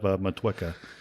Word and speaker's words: Motueka: hop IPAs, and this one happens to have Motueka in it. So a little New Zealand There you go. fun there. That's how you say it. Yeah, I've always said Mutika, but Motueka, sure, that works.